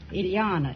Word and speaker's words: Ilana: is that right Ilana it rhymes with Manana okay are you related